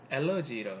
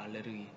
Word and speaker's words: 알레르기: 가면 많이 유행하는 게 엘러지라고 하는데 이게 영어 발음인데 이건 영어는 엘러지인데 여러분 정확히 발음하세요. 이거는 오리지널 발음 알레르기입니다. 알레르기.